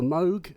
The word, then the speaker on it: Moog: around we've been corrected Bob always used to say Moog Bob introduced himself as Moog so I'm going to say that and if I say